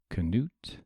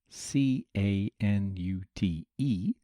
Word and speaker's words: Canute: So we tend to spell the king's name C-A-N-U-T-E, and that changes the pronunciation a bit from Knut by adding an extra syllable.